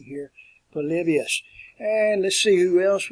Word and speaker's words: Polybius: So work on your pronunciation here, Polybius.